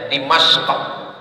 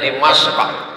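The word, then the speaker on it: دمشق: zaman itu namanya damaskus Dal mim syin Q cara membacanya dimasq orang barat susah menyebut dimasq payah dia menyebut Q itu karena banyak lemah babi di leher n dibilangnya dimashqah Jadi kata dia damaskus kata dia alqahirah susah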